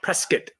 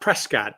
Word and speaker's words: Prescott: Just like uh Prescat, Arizona. Not Prescott, but Prescat.